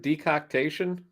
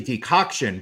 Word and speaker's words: decoction: Did you uh did you use the word decoctation um during the description? It it was actually decoction, but I I threw in an extra syllable just to make just to keep you on your toes.